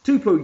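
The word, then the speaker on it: Tupou: Can you pronounce Tupu? Tupu.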